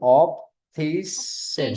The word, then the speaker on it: optician: Orthodontist op ऑप्टेमे ऑप्टामेस्ट्रिक रुकिए Yes, ऑप्टोमेस optometrist, ऑप्टोमेस्ट्रिक्स ऑप्टिशियन optician. We don't ऑप्टिशियन take little more stress on CN. We say SN.